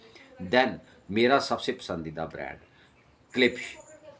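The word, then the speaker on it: Klipsch: Then मेरा सबसे पसंदीदा ब्रांड क्लिप्स अब के एल आई पी एस H spelling है और सी एल आई पी एस इसकी प्रोनाउंसिएशन है।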